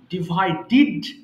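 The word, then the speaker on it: divided: ডিভাইড ভাগ করা ডিভাইড ডিভাইডেড ডিভাইডেড আমরা জানি যে লাস্ট যদি ডি থাকে তাহলে কিন্তু ডিড উচ্চারণ করতে হয় আমরা ডেড বলতাম তাই না সবসময় ডিভাইডেড ক্যালকুলেটেড বাট এগুলো হবে ক্যালকুলেটেড এবার আসো ক্যালকুলেট হিসেব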